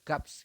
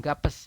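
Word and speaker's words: 값: ya B di bawah jadi gap dibac hanya gap teman-eman Anda membacanya hanya G kemudian a kemudian B ya di bawah kan P ya Jadi anda hanya membacanya gap bukan bukan gapes ya gap bukan gap ini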